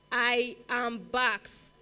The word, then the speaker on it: IAMBAQX: I am Bax. It's spelled IAMBAQX.